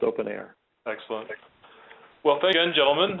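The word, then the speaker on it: openEHR: something else um a open o n EHR pronounced open air so sorry uh should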